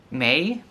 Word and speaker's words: meg: very similarities call Meg May I think they pronounce it may and we pronounce it may but we spell it with a J and not a g so we have the